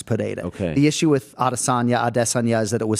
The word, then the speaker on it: Adesanya: We had a conversation with Izzy's parents in a fighter meeting about the pronunciation of their surname, and we sort of agreed collectively to keep it Adesanya. I think I prefaced it by saying Rogan's going to kill me if we go Adesanya right now, but we